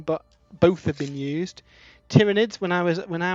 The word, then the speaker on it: tyranid: kelly stamped version but both have been used tyranids when i was when i was allowed to